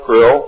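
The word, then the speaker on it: Krlll: name and title was his omnipotent highness Crill pronounced Krill spelled KR l l l or c r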